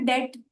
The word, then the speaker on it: debt: उसी तरह डेट, BT साथ में कैसे बोल पाएंगे, बी को ड्रॉप कर दिया।